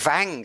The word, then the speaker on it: Wang: So I'm always saying Wang. I'm pronouncing the Ws as V. It's Wang.